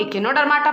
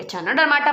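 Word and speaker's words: Echinodermata: Okay, इसको कुछ लोग इकिनोडर्माटा पढ़ते हैं, कुछ लोग एचाइनोडर्माटा पढ़ते हैं.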